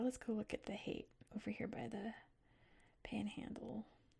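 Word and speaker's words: Haight: It's pronounced hate.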